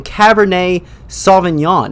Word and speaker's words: Cabernet Sauvignon: to come but tonight's episode we are doing Cabernet Sauvignon is that how you say it yes it